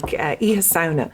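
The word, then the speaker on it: Oíche Shamhna: And Halloween originated, you pronounced it beautifully, Mike, Iha Sauna.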